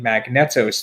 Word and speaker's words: Magneto: I wonder if it's Magneto. Oh, is it? Yeah, that could be. That's how they pronounce the X-Men character, but right. I just always read it as Magnet.